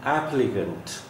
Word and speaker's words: applicant: Then applicant, applicant. This is cunt, cunt, not cant.